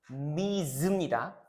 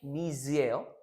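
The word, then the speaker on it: Ms: 이건 이제 여러분들 헷갈릴까 봐 얘기를 해 드리면 저 다다 아시겠지만 이거는 이제 발음이 여러분들 미즈입니다. 오케이? 미즈예요. 얘는 뭐예요? 미스죠. 그렇죠? 얘는 뭐예요? 미스입니다. 오케이.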